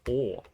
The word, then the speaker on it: Å: I'm not sure if it's like this in other languages, but in Norwegian, if it's two A's in a row, it's pronounced Å.